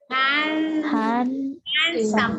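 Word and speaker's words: handsome: எது வந்து சைலெண்ட்டா இருக்கலாம் ஹேண்ட்சம் டி ஹேண்ட்சம்னு படிக்கணும் ஹேண்ட் எப்பயும் அந்த ஹேண்ட்ங்கிற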